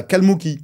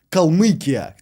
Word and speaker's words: Kalmyk: En Russie, on appelle ça, cette région, Kalmykia, Kalmyk. Et en France, on dirait que vous n'arrivez pas à prononcer la lettre U, et c'est pour ça que du coup, vous dites Kalmouk.